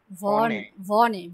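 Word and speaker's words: Wien: তারপর ইশ ভনে ভে, এটা সবসময় ভে উচ্চারণ করবেন, ইশ ভনে ইন ভেন। ভিন, ই হবে এই পাশাপাশি ভিন, হ্যাঁ ইস ভনে ইন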